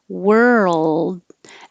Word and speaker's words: world: sound good to me it's what helps make the difference between number 20 world and number 21 word so the movement between the r to the L while you keep making voicing is what creates that sound for world and number 21 you